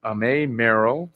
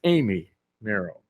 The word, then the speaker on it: Amy Merrell: This year's winners were Amay Merrill, third grade teacher at Roosevelt Elementary School. Let me correct that pronunciation. It's Amy Merrell.